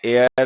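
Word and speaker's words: heir: Honest है, आवर है, एयर है, ऑनररी है, ऑनरेबल है, इनके साथ में एन का यूज क्या करो, क्योंकि एच इन में साइलेंट होता है, ठीक है।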